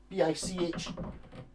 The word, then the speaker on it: Bich: Oh, BICH, to rhyme with bitch, as opposed to being, there's no T in it.